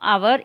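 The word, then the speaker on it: hour: द एच एट the beginning of आवर is silent.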